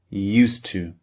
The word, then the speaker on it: used to: The spelling u s e d used and t to o to because we have a d at the end of used and a t at the beginning of to.